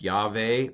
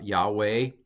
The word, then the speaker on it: Yahweh: Shiva Pak okay um this is the name of God which is pronounced yave or uh uh Yahweh and the older pronunciation